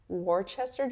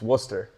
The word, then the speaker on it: Worcester: Warchester Junior Railers. Yeah it's tough. It's a it's it's Worcester. Oh really? Yeah it's Worcester. I would have never guessed that. Yeah, that's Worcester.